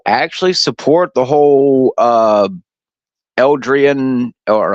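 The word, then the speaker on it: eldritch: how many people actually support the whole uh Eldrian or how do you say the you know the the Cthulhu type horror stuff yeah Eldrich yeah there's a lot of people who actually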